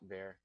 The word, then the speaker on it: var: ver or VAR means I'm going to pronounce it VAR because that's what I'm used to but some people like to call it ver um JavaScript knows that